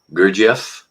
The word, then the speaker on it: Gurdjieff: The one book I couldn't pronounce. Gurdjieff? Pardon me? Gurdjieff?